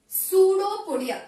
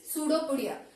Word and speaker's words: pseudopodia: So amoeba is having a appendage, that is pseudopodia. So what do you mean by pseudopodia? So here P is silent. So you need not to pronounce the P, but when you write the spelling you need to add P here.